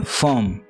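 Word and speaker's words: firm: 8th word है फर्म। यहाँ पे आर साइलेंट रहेगा, इसका मतलब है फर्म।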